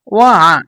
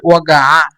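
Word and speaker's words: وقع: ওয়া, এল মোবাইল ওয়া, ওয়া, এখানে কফ, তো কফকে হামজা উচ্চারণ করে এই জন্য ওয়া। আর যদি গয়েন উচ্চারণ করে মানে যেটা বলছিলাম যে যদি গয়েন উচ্চারণ করে তাহলে বলবে মোবাইল ওয়াগা, ওয়া গয়কার গা 29 আকার ওয়াগা, এভাবে। আর যদি সিম্পল ভাবে গয়েন উচ্চারণ যদি না বলে তাহলে বলবে ওয়া, ওয়া, এভাবে।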